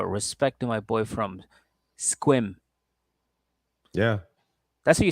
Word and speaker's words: Sequim: I think they call it Squim. Yeah. Squim.